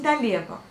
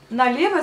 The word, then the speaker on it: налево: Quand on veut tourner à gauche, on dit налево. Налево s'écrit pareil que la prononciation, donc налево. Sauf encore une fois, à la fin vous le prononcez comme un A, mais vous l'écrivez comme un O.